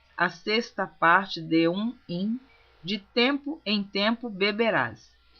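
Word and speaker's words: him: capítulo 4, essa palavra im. Algumas pessoas leem rim pronunciando H como inglês, mas a Bíblia está escrita em português, então eu estou lendo como está escrito.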